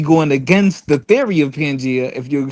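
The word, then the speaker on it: Pangaea: Hey, first first of all, first of all, the crazy thing is is pronounced pangia.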